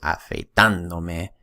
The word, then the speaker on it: afeitándome: And since you pronounce it afeitándome, then the accent goes right there, okay, to preserve pronunciation.